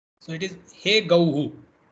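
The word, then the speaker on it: गौः: He gauhu is the form. When visarga is there after aukara, then it should be pronounced like hu. So it is he gauhu. It's not he gohu.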